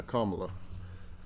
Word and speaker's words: Kamala: am I saying it right Kamala Kam yeah Kamala keep Kamala and ker anola um no I